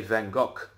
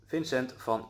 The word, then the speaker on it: Vincent van Gogh: how we pronounce it the H at the end of his name is actually silent it is just a medieval way of spelling his name so when we pronounce